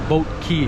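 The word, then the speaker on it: Boat Quay: It's in the boat key or boat quai. How do you say boat key or boat? Boat key. Boat key.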